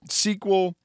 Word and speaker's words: SQL: that you probably could but sequel is in the United States at least the dominant way we say it sequel server okay my sequel some people will say MySQL okay so pronounce it however you want nobody's going to make a judgment bet on your skills or knowledge based on how you pronounce the product name now SQL the actual